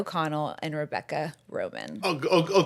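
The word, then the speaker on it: Romijn: You do not need to roll a single R. It's just a silent J. Just ignore it.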